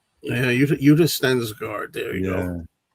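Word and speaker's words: Yutte Stensgaard: She's from I don't know how to pronounce her name. She's from Lust for a Vampire. Uta Stengard. Utensgard. Yeah. Udist Stengard.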